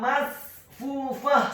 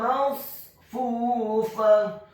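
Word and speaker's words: مصفوفة: Jadi dibacanya yang benar bukan masfufah, salah. Yang benar adalah masfufah. Wa namariqu masfufah.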